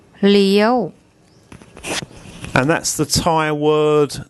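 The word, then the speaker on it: เลี้ยว: where I told you that this combination, the Sara A, the Sara E, the Yor Yak and the War Wan, make an eel sound, and there's a Law Ling initial consonant.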